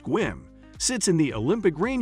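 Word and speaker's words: Sequim: Number 14, Squim. Squim, pronounced Squim, sits in the Olympic rain shadow with just 6,800 people.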